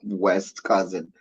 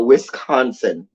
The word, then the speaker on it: Wisconsin: That's what my little brother used to say, West Cousin. It's West Cousin. Anyway, but Wisconsin.